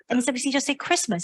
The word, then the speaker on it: Christmas: of course it's Christ must but we don't pronounce the teen inside Christmas it's a day of Christ and if you